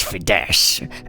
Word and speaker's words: Fides: what's your name uh my my name is fides uh I can spell that for you if You' like all right Fess or viess uh Fess f i d e